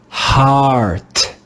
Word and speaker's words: heart: In this word, the digraph EA is read with the sound ah, the first sound of the English letter A. Ah, ah. Let's read this word together. Heart, heart, heart. Here, the digraph EA makes the sound ah, ah.